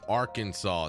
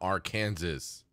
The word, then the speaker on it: Arkansas: And no matter what anyone tells you, it's pronounced Arkansas, not Arkansas.